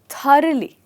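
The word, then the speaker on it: thoroughly: तो इसमें जो जी एच है यह अ या ह की तरह बहुत में से बोला जाता है यह वर्ड बोला जाता है थोरली मैं फिर से लिख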